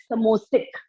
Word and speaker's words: sambosik: Now, what all goes into it's sambosik, written as sambosik, but pronounced as samosik. B is silent.